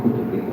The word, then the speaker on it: coturrito: Claro, no podemos escribirlo de dos maneras distintas la misma palabra porque le ponemos en diminutivo, entonces la escribes coturrito, pero pronuncias cuturrito, porque es simplemente por asimilación vocálica.